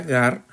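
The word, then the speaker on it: γάρ: idea otra vez veos la conjunción Gar como está escrito aquí se pronuncia más o menos de esa manera Gar eh vemos que que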